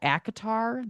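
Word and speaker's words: ACOTAR: you know you know acatar that's how you say it.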